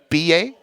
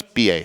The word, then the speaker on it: billet: Well, ticket is BA, I believe it's pronounced, but it's BILLET. Maybe TE, but I think it's BA.